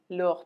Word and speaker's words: leurs: And then their parents, it's going to be leurs parents. There is an S which is added but which is not pronounced.